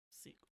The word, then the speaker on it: Sikh: Is it Sheik. Sikh? Sikh. Alright. Sikh.